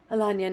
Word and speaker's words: Alanya: we're currently in Alanya please say I'm saying it right Alania not alone yeah I keep saying